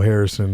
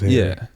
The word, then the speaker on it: HXRY: Yeah, it's not, no Harrison, none of that. It's Henry.